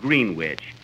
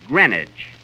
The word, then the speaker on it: Greenwich: in greenwich village kenny that's not green witch you see here in new york it's pronounced greenwich greenwich see who did you